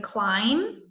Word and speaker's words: climb: the last one right the missing silent letter in climb it's a B you don't hear the letter climb but it is there when you spell it so it's silent alright now I have